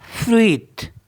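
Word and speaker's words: fruit: एफ आर यू आई टी इसको पढ़ते हैं फ्रीत फ्रीत तो इसको पढ़ते हैं फ्रूट फ्रीत नेक्स्ट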